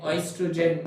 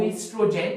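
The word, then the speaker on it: oestrogen: o g e n o estrogen not estrogen you will not say o estrogen this i'm saying so that you remember the spelling but it is estrogen with the o o is silent and that is how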